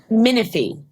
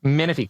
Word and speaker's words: Minifie: last name so I don't mess it up miny miny yes miny Colby freaking miny how the hell are you